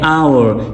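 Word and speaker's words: hour: जिस तरह एग्जांपल दिया है आवर। साइलेंट लेटर एच है। ठीक है? यहां पे एच साइलेंट है। ये प्रोनाउंस होता है आवर।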